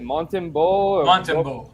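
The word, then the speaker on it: Montembeault: back on the road i mean can somebody pronounce the name for me of that goalie is it montanbo yeah nailed it so uh you know i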